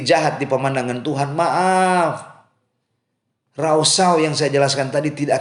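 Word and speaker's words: rasha: Penulisannya cuma R-A-S-H-A. Bacanya rausau.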